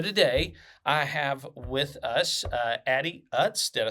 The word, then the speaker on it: Addie Utz: So today I have with us Addie Utz.